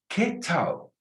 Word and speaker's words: qué: Every time you see QUE, just put a KE above it. ¿Qué tal? Because you don't pronounce generally a U after a Q. And you can write that down. I don't pronounce a U after a Q. And a Q sounds like a K, like in English, queen. ¿Qué tal?